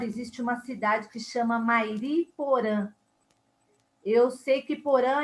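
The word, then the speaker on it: Mairiporã: M-A-I-R-I-P-O-R-A con una tilde. La nasalidad.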